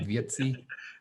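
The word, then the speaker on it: Wietse: over you know so pretty cool good for vietti venema oh i pronounced it right vietsi who else do we got all right on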